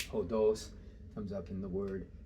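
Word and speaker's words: ὁδός: We used it as an example of something that had a rough breathing mark. Ὁδος comes up in the word exodus, odometer, road or path.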